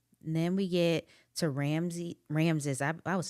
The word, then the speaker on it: Ramses: we get to ramsy Ramses I I was saying his name wrong in the last episode it's Ramses I was saying Ramsey Ramses and Bowden they are actually